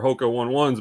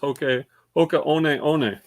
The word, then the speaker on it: Hoka One One: group like i used to say these are hoka one ones but apparently they're pronounced hokey oka which i didn't know i didn't know that